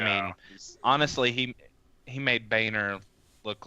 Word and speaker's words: Boehner: this chance to say that his name is pronounced Boehner off yeah yes let's remember